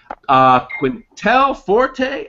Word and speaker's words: Quintale Forte: Quintale, Forte, and Troy Escamilla. Help me with your names, guys.